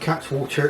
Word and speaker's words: Cattewater: was a bamin terminal I was assured by some devonians that in fact cat water is in fact the way to pronounce it and this giv me